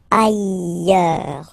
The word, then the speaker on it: ailleurs: Look, final S not pronounced, and then you've got this y sound. Ailleurs.